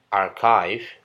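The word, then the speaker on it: archive: seperti versi bahasa Indonesia padahal kata ini Seharusnya diucapkan dengan pengucapan orkes orkes orkes arkais bukan arsip tapi arkais Hai baik kita lanjut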